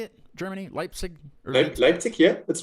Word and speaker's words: Leipzig: is that how you say it germany leipzig leipzig yeah that's right i did have that one right so it's not like like like slig or anything like that got it all right